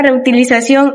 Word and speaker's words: reutilización: Y por último tenemos la palabra reutilización y contaminación, que son palabras agudas porque la sílaba tónica es la última. Terminan en N, por eso llevan tilde.